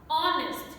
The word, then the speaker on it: honest: and because of that h is not pronounced in them honest he is an honest